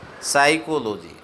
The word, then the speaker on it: psychology: साइकोलॉजी आपने देखा तो साइकोलॉजी की यदि आप स्पेलिंग्स देखें तो PSYCHOLOGY में P से शुरुआत है, लेकिन इसका उच्चारण साइकोलॉजी है, तो P पूर्ण रूप से आपने देखा कि यहाँ पर साइलेंट है।